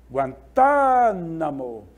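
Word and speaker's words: Guantánamo: palavra aqui em destaque guantanamo guantanamo é uma região ali de Cuba é uma divisão de cuba tá a sílaba tônica aparece bem aqui olha tá guantanamo mas depois nós temos ó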